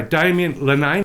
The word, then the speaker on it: Damien Linnane: kettle to boil but uh shall I say Daman lenain I hope I've pronounced your surname right Daman welcome to the